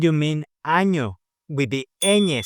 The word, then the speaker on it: ñ: The letter ñ, pronounced ñ, is not just an N with a fancy hat.